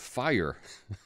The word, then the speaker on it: Fyre: I didn't even realize it was called fire until just this week for whatever reason I was flipping the letters because it's spelled FY re I was flipping the